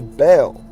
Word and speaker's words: Baal: As you can see pronunciation right here again syllable like the word bell or bail.